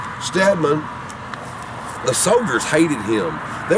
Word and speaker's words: Steedman: lot lot more but James stadman some pronounce it steedman stadman the soldiers hated him